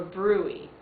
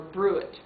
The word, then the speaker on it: bruit: wave sound of a bruit or a bruit I've heard it pronounced both ways be ruit and it does sound